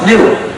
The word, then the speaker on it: gnu: reason why the word goo is so funny is it's used for lots of word play because the dictionary says the G is silent the dictionary says it's pronounced new so anytime you want